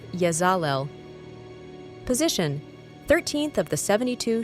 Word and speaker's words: Yezalel: Cosmic ID card name Yazel, pronounced Yazal.